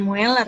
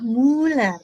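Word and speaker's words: Müller: Jadi tulisannya Mueller. Tapi bacanya bukan Mueller ya, Muller, tetap Muller.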